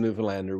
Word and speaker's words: Newfoundland: I, as a Newfoundlander, and anyone watching this who's a Newfoundlander, will be very impressed with the pronunciation of the name Newfoundland.